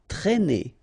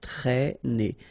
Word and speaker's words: traîner: Accent circumflex here, so you should write it, but then keep in mind that you don't pronounce it, so it doesn't change the pronunciation of this combination of two letters, A and E together, it's E, okay?